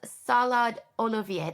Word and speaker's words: Salad Olivier: It's called Salad Olivier. That's how we pronounce it in Persian.